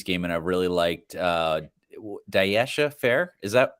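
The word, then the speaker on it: Dyaisha: Notre Dame Syracuse game and I really liked Daisha Fair. Is that how you say her name? Daisha Fair, the point guard. Deja. She was Deja.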